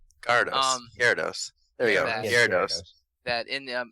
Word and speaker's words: Gyarados: I there you can get a shiny Red garados gados Gyarados there you go Gyarados that in it's either it's either oh it's